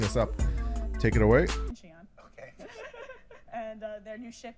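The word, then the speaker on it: Xi'an: And I'm going to listen to pronunciation here one more time because I keep messing this up. Take it away. Xian.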